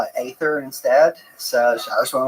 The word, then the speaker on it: Aether: Uh, cuz I'm I thought that I read uh God of Upper Air is actually pronounced Ether and I was like I just call it Aether instead.